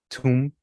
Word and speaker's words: tomb: So, it goes com tomb, limb, climb, crumb. You know, you don't you don't even necessarily pronounce the B.